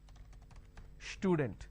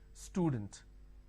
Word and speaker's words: student: word which is student lot of people make a mistake and they pronounce this with a sh student it's not student it is student all right now when